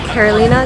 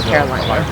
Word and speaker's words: Carolina: cool um so it's carolina tattoo and it's spelled c-a-r-o-l-e-e-e-n-u-h dot tattoo uh emphasis with the ease because otherwise people will call me caroline carolina so i gotta